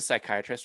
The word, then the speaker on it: psychiatrist: the what was the psychiatrist one why can't you hear a psychiatrist use about the bathroom because the p is silent so we'll ask that